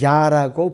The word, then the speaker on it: 야: 여호와의 속성들 하나를 강조해서 야라고 부릅니다. 야. 그런데 구약에서 총 45 9회가 나오는데 그중에서 48회를 주로 번역을 하고 있어요. 로드로 대문자 주로. 그리고 시편 68편 4절에서만 야로 발음을 그대로 음역을 해 놨습니다.